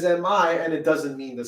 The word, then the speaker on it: mi: it's spelled m e but in music in solfege me is mi and it doesn't mean